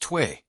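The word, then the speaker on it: tuyère: The air was forced through a metal pipe called the tuyere, pronounced tway, and directly into the heart of the coals.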